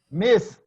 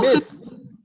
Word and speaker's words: missed: After S, S, H, C, H, you pronounce only T.